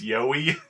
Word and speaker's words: Joey: his name is Joey. But then pronounced, with an accent, it's Yoweee.